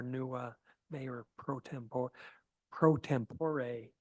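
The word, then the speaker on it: pro tempore: could would be amazing prot tempor but so our Council M Shan Newell who's not with us tonight will be our new uh mayor prot tempor prot tempore is actually how it's pronounced so uh we actually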